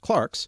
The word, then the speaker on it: clerks: in the middle ages clerks sometimes now pronounced clarks were the only well-educated